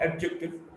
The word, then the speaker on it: adjective: Now D in this sequence or the cluster DJ, when D is followed by J, D is not pronounced. Adjective is not adjective, adjective.